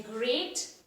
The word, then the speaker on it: great: of a sound pronunciation then great and straight there is a wise difference in the spelling children but they have pronounced same they have they are rhyming with each other they have the same sound when we are saying the word okay children so that's